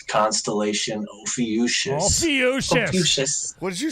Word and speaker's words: Ophiuchus: The correct pronunciation: Constellation Ophiuchus. Ophiuchus. What did you say, Nate? I said it like a friggin' 3-year-old. I was like, Ophiuchus. You did not. It's a PH, dude.